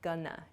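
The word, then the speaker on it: gonna: both of these Expressions going to shortens to Gana g o n n a gunana I'm GNA I'm not Gana this sounds much more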